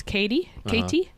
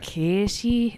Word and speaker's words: Katie: example on, like, so my name is, for Americans, it's Katie. Yeah. But the way I would have pronounced it growing up was K-E. K-E. Yeah, okay. So that's kind of like nearly more like a Dublin.